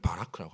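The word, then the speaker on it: ברך: 이 히브리어의 이 복이라는 단어가요, 바라크라는 뜻입니다. 발음을 바라크라고 합니다.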